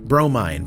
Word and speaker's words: Bromine: train, Dave Harold, Wisecube, Bromine, pronounced Bro, Mine, Main Humdinger, Mother of Pearl,